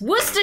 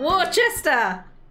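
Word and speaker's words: Worcestershire: I love m is try to produce whater sauce not Wester I have I have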